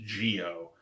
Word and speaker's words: Zi-O: When they are presented to Zio, although I think the show actually pronounces it, I saw a pronunciation came in, I think it's pronounced Geo, Um, but when they're